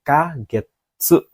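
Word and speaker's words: ヶ月: Tapi kalau untuk menyebutkan jumlah bulannya itu pakai kagetsu. Ingat ya, pakai getsu, kagetsu. Sambang getsu saja. Ini juga salah. Harusnya ada k-nya seperti ini. Harus ada k-nya kalau untuk menyatakan bulan ya.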